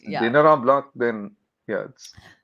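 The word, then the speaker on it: Dîner en Blanc: Um, there's a certain kind of party in the world which has become very popular called the Dinner en Blanc. Dinner and Dinner en Blanc. I'm going to spell it for you because my pronunciation must be pathetic.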